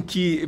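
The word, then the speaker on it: καί: Esse kai é pronunciado como um que.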